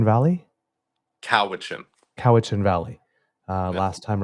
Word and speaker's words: Cowichan: Am I pronouncing this right? Cowichan Valley. Cowichan.